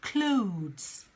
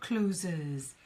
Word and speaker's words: clothes: people is the word clothes I don't know I get a number of clients who will pronounce it closes its not closes its clothes clothes clothes so again you can